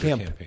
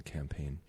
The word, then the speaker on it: campaign: A Kickstarter campaign. A campaign, yeah. Mm-hmm. The G is silent in campaign.